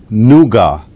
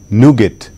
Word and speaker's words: nougat: There's two pronunciations for it, so I'll give you both. The word is nougat, also pronounced nougat.